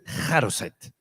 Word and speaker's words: charoset: l se llamaba el yo no sé pronunciar hebreo, yo voy a decir charoset, pero yo me imagino que eso se dice jaroset, pero yo mi hebreo es bastante precario, pero es jaroset.